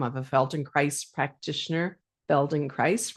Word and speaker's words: Feldenkrais: Feldon Christ rhymes with paradise and bones for life movement intelligence senior trainer.